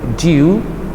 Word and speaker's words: due: It will be due, bukan do, ingat ya pengucapannya, agak due gitu ya.